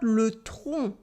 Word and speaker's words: le tronc: Because le train, the train, le train, it is not le tronc, the tree trunk. Le tronc. Can you pronounce it? Le train and le tronc with the silent C.